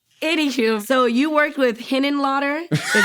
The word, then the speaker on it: Henenlotter: Anywho, so you worked with Henenlotter. Is that how you say Yeah, it? this is a crazy podcast. I said it right? Yeah, Okay, yeah, cool. Henenlotter.